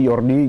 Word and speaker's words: Jordi: Belanda namanya depannya AG berarti berarti ini bacanya yorgi Ya yordi yordi grive yordi grive bukan Jordi ya bukan Jordi kalau Jordi nanti ini